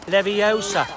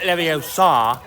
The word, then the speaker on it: Leviosa: flick no stop stop you're saying it wrong it's Leviosa not Leviosa honestly she's a nightmare